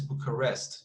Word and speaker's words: Bucharest: we can see the the stress it's the is is bucharest you see a book arrest because uh the the i stress smart goes here rest so it's we know it's three syllables as we can see although there are several possible pronunciations as you can see you see it's like we can say bucharest or bucharest you see but as